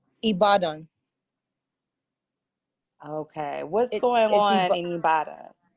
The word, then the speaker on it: Ibadan: where you are is it how do you pronounce the city he bought in its ibadan okay what's going on anybody it's some right